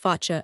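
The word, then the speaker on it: Foča: Foca, pronounced Focha, a town of Bosnia situated at the confluence of the Drina and Sehatina rivers, and encircled by wooded mountains.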